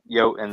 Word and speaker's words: Jotun: I think it's pronounced like Jotun, like Yo, yeah.